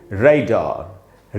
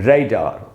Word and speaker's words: radar: पता चल जाएगा कि जिसको हम ए समझते वो ए नहीं होता, ए ही होता है, इसलिए इसको हम पढ़ेंगे रेडार, रेडार।